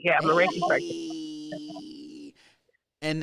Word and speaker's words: Reiki: to say it wrong ricky you say right ricky yeah i'm a reiki and how does that uh intermingle with uh